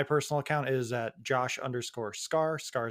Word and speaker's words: Skaar: Scar is spelled SKAAR.